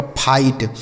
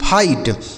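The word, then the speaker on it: fight: इस आई का उच्चारण आई कर देना है। जी एच टी से हो जाएगा ट। यही लिखा गया आपका फाइट। एफ आई जी एच टी फाइट।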